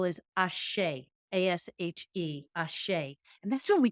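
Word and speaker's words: ashe: outside and so we recognize that the next syllable is ashay a-s-h-e and that's when we collapse the dualities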